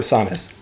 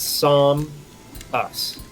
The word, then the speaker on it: Samus: Yeah, it's Psalm us. Samus. Ha! Where are you getting that from, though? However, in Brawl, the announcer pronounces it as Sam us. This change in pronunciation is consistent with the way Samus is pronounced in Metroid Prime 3 Corruption.